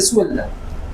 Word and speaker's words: suelda: Entonces, si yo sueldo, se dice suelda, no se dice solda, sino se dice suelda.